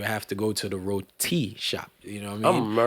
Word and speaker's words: roti: So it's roti. Yeah, so you have to put. You gotta emphasize the T. T on it.